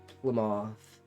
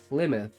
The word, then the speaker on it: Plymouth: It's pronounced Plymouth. Plymouth.